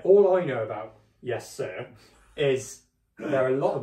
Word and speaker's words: Suhr: Just say sir. Yes, sir. There you go. Yeah. That's a tip for anyone watching. If you can't pronounce it, it's yes, sir.